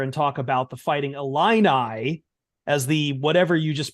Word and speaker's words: Illini: I I said Elena you said a lean eye it's a line eye Illini then I'm sorry